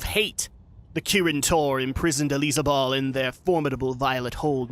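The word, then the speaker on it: Alizabal: disciple of hatred and here is her mistress ELISA ball that's what that's actually how you say it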